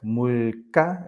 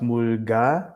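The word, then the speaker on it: 물가: So we have words like mulka and pulpop. So yeah. So if it's not the case, it should be pronounced mulga and pulbop, but they're not.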